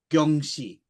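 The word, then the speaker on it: jiangshi: modern day Cantonese film, they very much pronounce it Gyeongshi, not Jyangshi, which sounded closer to Kyonshi to me.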